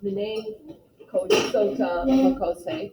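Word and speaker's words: Mni Sota Makoce: The first, I guess it would be a phrase, would be Minnesota Makose. Who remembers, actually I think it's pronounced Minnesota Makose.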